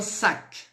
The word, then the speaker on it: sac: Sauf L, C, F, R. Então essas a gente vai pronunciar, tá? Pardon, excusez-moi. Então vamos lá. O exemplo, primeiro exemplo, un sac.